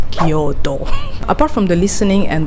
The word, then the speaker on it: Kyoto: Like, don't go with Kyoto, okay, it's Kyoto.